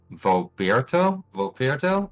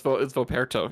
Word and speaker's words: Voperto: I cannot wait to see how Vopierto, is that how you say it? Correct? It's Vopierto? Vopierto? No, it's Voperto.